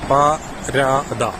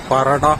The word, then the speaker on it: parada: കത്തലാൻ ഭാഷയിലായിരിക്കും ശരിക്കും വായിക്കേണ്ടത് അതിന്റെ ഉച്ചാരണം പ ര ദ അല്ലാതെ പറട അല്ല പുതിയ ഒരു സ്പാനിഷ് കത്തലാൻ